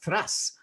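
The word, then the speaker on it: Thrace: his bachelor of science at democritus university of thrass is that pronounced at all right that's correct actually democracy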